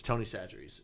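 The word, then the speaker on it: Tony Chachere's: It's Tony Satcheries is how it's pronounced.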